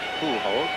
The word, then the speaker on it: Pujols: That is the correct language pronunciation, by the way, Pujols.